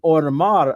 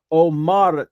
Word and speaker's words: Homar: I know in Spanish the H is silent, right?